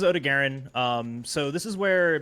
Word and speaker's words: Odogaron: do well um but next is odigaren uh or odagarone or odogaron if you're the Handler and want to be incorrect how I say it how do you say it oh dogeron that's just wrong those are just all the wrong vowels they give us the phonetic in chat of how you say it uh but this is Ode to Garen um so this